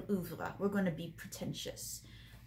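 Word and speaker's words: oeuvre: right now i know some people like to pronounce it over but we're doing oovla we're going to be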